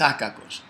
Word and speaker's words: akakos: He's so how to say, so, I mean, not angry, this, you know, this is akakos.